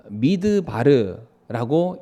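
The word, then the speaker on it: מדבר: 광야가 히브리어로 미드바르라고 읽고요.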